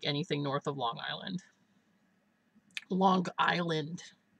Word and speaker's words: Long Island: north of Long Island Long Island with the hard G I used to get